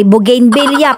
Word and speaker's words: bugambilya: Eh ang tamang pronunciation po talaga sa bugambilla ay bugin billa. Pero nasanay na po ako na gayon ang pagbigkas ay hayain na po basta ay maibigkas.